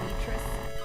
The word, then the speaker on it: Beatrice: PM says, also got the strange game called Beatrice. Guess it rhymes with Tetris.